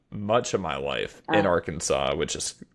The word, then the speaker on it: Arkansas: saying Arkansas is it a an sas yeah a r k ansas it's basically like Kansas but with the AR